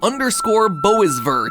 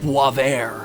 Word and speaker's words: Boisvert: a while now called _Boisvert, or as I believe it's actually pronounced, Boisvert.